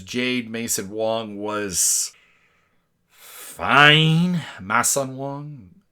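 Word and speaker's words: Masson-Wong: Mason Wong. It's the French pronunciation.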